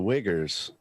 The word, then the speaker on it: Uyghurs: So the Uyghurs, and I'll say it properly because I'm not afraid.